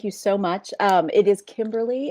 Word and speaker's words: Kimberly: It is Kimberly. It's the Royal Kimberly. It's pretty much the only formal thing about me. What's the Royal Kimberly mean? All 3 syllables, please.